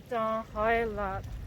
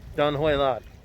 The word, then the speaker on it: Don Hoi Lot: Don Hoi Lot. Don Hoi Lot.